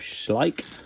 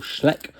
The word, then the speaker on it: Schleich: of like four five Schleich or Schleck or however you want to pronounce it just a bundle of